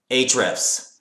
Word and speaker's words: Ahrefs: I pronounce it Ahrefs, okay?